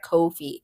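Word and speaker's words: Ko-fi: of it, you know, the one that looks like wifi ko dash uh you know fi is it sort of can be pronounced in the sense that it goes with no feet, right? Kofi, right? It it, you know, rhymes a little bit there.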